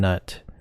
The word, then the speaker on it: Gnut: Just call him Nut. The G is silent. Come on guys. We all know the G is silent.